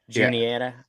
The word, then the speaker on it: Juniata: What's the Juniana? How do you pronounce it? Yeah. Juniata, and I was dragging that thing up those ledges and stuff, man.